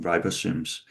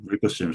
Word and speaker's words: ribosomes: you you you can easily see bubbles capturing ribosomes. So ribosims how do you say that in ribosomes?